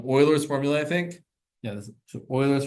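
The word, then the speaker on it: Euler: thing this is called Oilers formula I think yeah Oilers formula yes it's pronounced Oiler not uler okay so here's what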